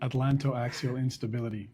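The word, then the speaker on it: Atlanto-Axial Instability: Atlanto Axial Instability.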